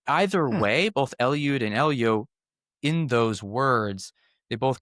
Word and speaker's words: Eliud: And instead of Eliud, it uses the word Eljo, or really it would be pronounced Elio.